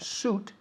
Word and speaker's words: suit: Sweet es dulce, pero Okay. suit no se pronuncia la I latina. Se pronuncia como si no estuviera. Suit. My suitcase. Es un error muy común.